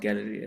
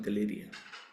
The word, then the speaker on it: Galleria: It's not pronounced Galleria, it's pronounced Galeria.